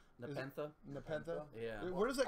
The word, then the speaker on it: Nepenthe: because it's pronounced Nepenthe.